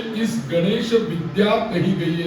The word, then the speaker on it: गं: देखो मैं गं का उच्चार कैसा करता हूँ, अनुनासिक। ओम गं गं गणपतये नमः। ये ऐसा नहीं उच्चारण होना चाहिए, ओम गम, ये नहीं, ये गलत।